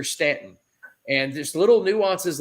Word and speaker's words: Staunton: influence and they're they're stanton this pronoun you know it's it's spelled staunton but it's pronounced here stanton and there's little nuances